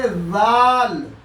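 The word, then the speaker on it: ذال: जाल ये बिल्कुल से की तरह से पढ़ा जाएगा। से और जाल का प्रोनाउंसिएशन बिल्कुल एक जगह से होगा। जीभ को थोड़ा निकाल करके दांत उस पर रख करके उसका प्रोनाउंसिएशन करेंगे।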